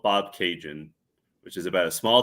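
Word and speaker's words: Bobcaygeon: I just mentioned the town of Bob Cajun, and I feel like mentioning Bob Cajun is like a cultural reference that Canadians get that people don't necessarily get.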